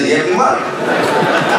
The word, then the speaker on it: Liyeplimal: Voilà un Philippien qui prononce bien Yeblimal. Voilà les Malgaches qui prononcent Yeblimal. Tout le monde prononce Yeblimal.